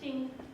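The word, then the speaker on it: 经: It means jing, it's pronounced jing.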